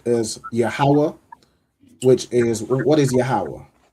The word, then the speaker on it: Yahweh: Okay, so it is pronounced as Yahweh, which is, what is Yahweh?